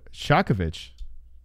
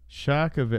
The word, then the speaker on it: Ksiazkiewicz: DRS says pronounced Shakovich. Shakovich. Oh, maybe. Yeah. Oh, shit. That sounds about right. Because the W here is a V sound.